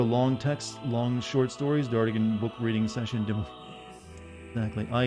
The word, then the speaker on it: Dartigan: You want to hear this, but you pronounce it Dartigan. Dartigan.